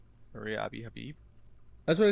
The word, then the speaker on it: Maria Abi Habib: Maria Abi Habib.